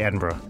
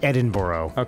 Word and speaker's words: Edinburgh: how to pronounce it I would say Edinburgh right but it's it's not Edinboro as some assholes say yeah she she studied